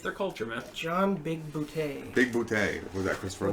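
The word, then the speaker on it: Bigbooté: Big Booty. Big booties, like it's Boutte. Boutte. And if you see in the credits, there's actually like the little E accent aigu, like.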